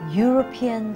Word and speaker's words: European: university a uniform a European city EU the vowels EU in European sound like the word you because it sounds